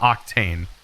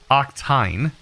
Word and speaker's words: octene: find octane or oxy I say it wrong it's not octane octene sorry for all those that I trigger when I say then it is octene I always say it